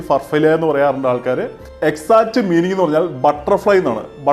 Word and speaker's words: Farfalle: names as Farfalle Pasta People pronounce like Farfalle or far-FALL-lay The exact meaning is